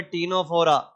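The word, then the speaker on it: Ctenophora: निडरिया टी का मतलब है टीनोफोरा। टीनोफोरा सी साइलेंट है।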